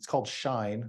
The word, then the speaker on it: SHINE: So it's called Shine. It's kind of a weird name, but it's Southwest Clean Hydrogen Innovation Network. I guess the C is silent.